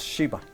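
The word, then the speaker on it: Gxiba: Ghiva, pero se pronuncia nada más Shiva.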